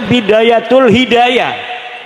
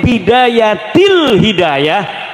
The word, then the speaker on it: Bidayatil Hidayah: Karena deke maca Bidayatul Hidayah. Harus bah dibacanya Bidayatil Hidayah karena ana huruf jerbe.